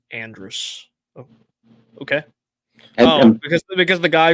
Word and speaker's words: Andrus: Let's see, Andrus, as many do, they pronounce it like Andre.